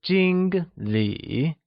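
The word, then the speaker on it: 经理: as tosher Jing Li where Jing Li means manager Jing uses the first tone also known as the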